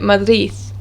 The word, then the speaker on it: Madrid: end of a word it's usually pronounced as a th or it's just completely disregarded and they don't say it at all for example the word madrid in spanish they would say madith or madhari they wouldn't